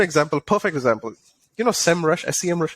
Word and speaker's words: Semrush: give you an example perfect example you know semrush i see how do you pronounce this semrush rcm that's a topic going